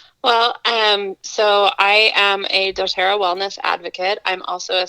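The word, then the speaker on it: dōTERRA: doTerra?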